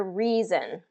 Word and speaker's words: reason: the last example here reason two vowels go walking first one does the talking re e reason all right so hopefully